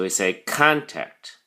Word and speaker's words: contact: a look first the pronunciation contact has two syllables contact and the emphasis or stresses on the first syllable Khan so we say contact it can be used as a noun or